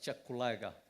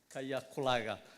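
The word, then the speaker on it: Kyaka: not go beyond threat I learned that here they pronounced the word k y a k a as chakulaga not kayakulaga so I want to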